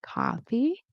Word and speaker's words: coffee: So if you can see my screen, the ca and coffee, that's where the stress is, and more and morning, that's where the stress is.